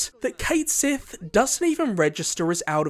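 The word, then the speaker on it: Cait Sith: I can't forget about our beloved Scottish cat Kate Sith and yes that is how they pronounce his name in rebirth so hopefully we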